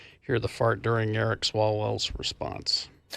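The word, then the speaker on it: Swalwell: Salwell. Swallwell.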